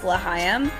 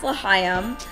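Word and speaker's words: L'Chaim: But basically we thought the black and white cookie, which by the way, the booth was pronounced Lahayim. How we didn't get that, I have no idea. But it's pronounced Lahayim, and the black and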